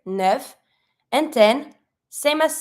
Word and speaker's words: neuf: Then we have 9, which is neuf. You pronounce every letter here, neuf.